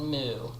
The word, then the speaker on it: MW: So, just to be clear, it's spelled M.W., but those in the know call it Mu.